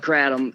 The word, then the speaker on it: kratom: us all about it kratom some people call it kratom you know you take